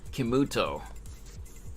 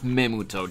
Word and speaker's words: Kemuto: Since the emphasis is on the second syllable, I would type that syllable in all caps. Like, no, not Memuto, Jesus Christ.